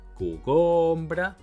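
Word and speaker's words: cogombre: "Coooo"-gom-bre, co-"goooom" -bre or co-gom-"breeee"? Co-"goooom"-bre, very well.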